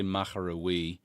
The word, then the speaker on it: Moher: And there's places, Moher, the way they spell it is funny here, but I kind of say Moher, which kind of is the way I would pronounce it.